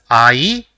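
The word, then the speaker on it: あい: say the first word the first character in the word is ah and the second is e so it will be pronounced as IE which means love let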